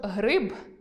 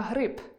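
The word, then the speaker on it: гриб: У кінці слів дзвінкі приголосні не оглушуємо, щоб не перетворився на .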